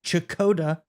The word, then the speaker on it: Checotah: we're talking about a HomeTown boy from I have learned this is chakota Oklahoma so you know correct me if I'm wrong but I'm pretty sure that's how you say it and let's get into